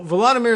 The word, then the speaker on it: Volodymyr: So Volodymyr Zelensky, which if you say it quickly enough and naturally enough, you wouldn't hear that extra syllable anyway, or at least you detect it maybe, but not be sure what to do with it in English.